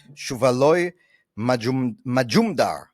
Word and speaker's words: Shuvaloy Majumdar: Today, we have someone very special with us, Shuvaloy Majumdar. I hope I said that right. You said it right.